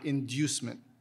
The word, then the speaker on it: inducement: Can I hear the pronunciations again? Inducement or inducement?